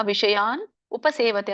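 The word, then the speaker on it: ವಿಷಯಾನುಪಸೇವತೇ: ಮನಶ್ಚಾಯಂ ವಿಷಯನುಪಸೇವತೆ ಇದನ್ನ ಬಿಡಿಸಿದಾಗ ವಿಷಯಾನ್ ಉಪಸೇವತೆ ಅನ್ನುವಂತ ಎರಡು ಪದಗಳಾಗುತ್ತೆ ಕೂಡಿ ಹೇಳಿ ವಿಷಯಾನು ವಿಷಯಾನಉಪಸೇವತೆ ಸ ಗೆ ದೀರ್ಘ ಇದೆ ಸೇವತೆ ಮುಂದೆ ಮತ್ತೆ ತಕ್ಕೆ ದೀರ್ಘ ಇದೆ ಅಲ್ಪಪ್ರಾಣ ಮಹಾಪ್ರಾಣ ಸ್ವತ್ತು ದೀರ್ಘ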